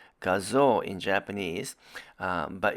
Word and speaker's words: Gazoo: gazu racing or the word gazoo is actually pronounced gazoo in japanese but it's called gazoo racing here in north america and the grz